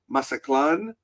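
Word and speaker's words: Mazatlán: And I know that there's a different pronunciation by a lot of people where they say masaklan. I'm like I understand with the native pronunciation I'm probably butchering my but I'm going stick to my tourist for show pronunciation right now.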